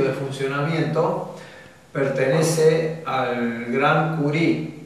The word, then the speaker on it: Curie: sino el principio de funcionamiento pertenece al Gran curi o Curie se escribe Curie se pronuncia cu que junto con